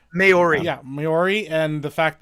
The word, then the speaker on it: Maori: What's funny is that somebody called her out about Cliff Curtis and him being Maui or however you pronounce it. Maori.